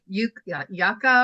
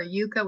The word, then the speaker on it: Yuka: free bono for everybody, called Yucca or Yucca, whichever way you want to pronounce it. It's spelled Yuka.